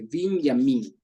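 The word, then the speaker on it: בנימין: dicho tenemos que acordarnos Cómo se dice Benjamín en hebreo Benjamín en hebreo se dice vin yamin y el gentilicio es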